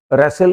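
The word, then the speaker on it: wrestle: विसल city city बजाना T silent है। रेसल कुश्ती लड़ना टी साइलेंट है।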